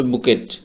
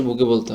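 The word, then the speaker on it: bouquet: উচ্চারণটা হচ্ছে বুকেট বাট এটার আমরা সঠিক উচ্চারণ করতে হবে বুকে বলার সব অবশ্যই বুকে বলতে হবে তারপরের শব্দটি হচ্ছে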